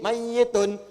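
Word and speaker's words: مَيِّتٌ: Pakai tasdid mayyitun.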